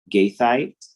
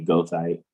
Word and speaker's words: goethite: The coxonite, gaethite, right? The O-E diphthong should sound like a long E. Some people may say goethite.